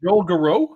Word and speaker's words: Garreau: You can tell we're out of the Joel Garreau. I assume that's pronounced Garreau.